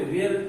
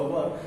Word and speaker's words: were: दे वर, यहाँ पे वेयर pronunciation गलत होगा, राइट प्रोनाउंसिएशन होगा वर। दे वर देयरफॉर सैटिस्फाइड विद